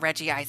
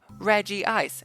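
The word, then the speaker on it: Regice: Reggie ice was saying Reggie ice anyways can we just agree that it's Reggie ice and call it a day Reggie ice is my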